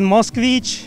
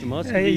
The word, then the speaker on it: Moskvich: Yeah, it's you pronounce it Moskvich. Moskvich.